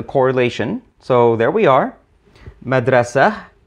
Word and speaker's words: madrasa: so there we are madrasa actually the consonants mdrst but the T isn't pronounced Arabic has to facilitate